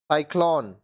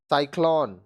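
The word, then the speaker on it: cyclone: है स और क सी के बाद ई आई वाई आए तो सी का उच्चारण स होगा देखिए कांसेप्ट समझिए अगर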